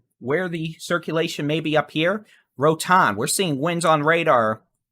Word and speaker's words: Rotan: may be up here, Rotan, we're seeing winds on radar well over 75